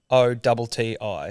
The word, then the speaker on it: Bellotti: and then Bellotti is Bellotti. Oh, we're spot Bellotti. on. Italian, Bellotti.